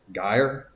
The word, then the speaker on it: gyre: a gyre uh and i believe he regularly pronounced it guyer so i will pronounce it that way in the poem i don't know which is right when i see it i tend to say i want to say gyre but we'll probably talk